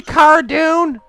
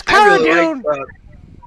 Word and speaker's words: Cara Dune: Well, what had happened is, it's supposed to be Cara Dune, but it got mispronounced, kind of like the Tantive 4. People call it Tantive V for no reason whatsoever. Just because it was mispronounced one time in a radio drama, everyone pronounces it the wrong way now.